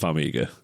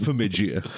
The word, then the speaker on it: Farmiga: I'm pretty sure it's pronounced Farmiga. No. You've got it Farmigia. Farmigia. Parmigiano Moving swiftly on.